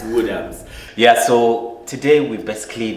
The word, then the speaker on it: Woodhams: There's an S on the end. Oh, there's Woodhams. All right. Yeah, it's Woodhams.